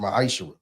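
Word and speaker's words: מעשר: You can find this in the book of numbers chapter 18 vers 21 in the book of Malachi 3:8-10 means 10th in Hebrew and is pronounced maisher 10% of every penny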